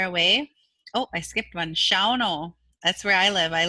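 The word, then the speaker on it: Shawano: Shauno, that's where I live. I live in Shauno, which is a town right south of the reservation. I know that's pronounced Sawano, which means south.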